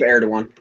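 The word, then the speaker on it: Erdoğan: The secular opposition has long argued that the government of Recep Tayyip, I cannot pronounce these fucking names. Tayyip Erdogan.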